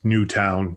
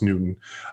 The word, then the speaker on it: Newton: Everybody thinks it's Newtown, but it's pronounced Newton. And so the Mass Pike runs smack dab into Newton.